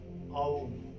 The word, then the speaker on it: ओम: और उच्चारण में कई विद्वानों का मत है आ उ मा उच्चारण कीजिए, आओम, और लंबा खींचिए माँ को, और अधिकतर लोग ओम उच्चारण करते हैं।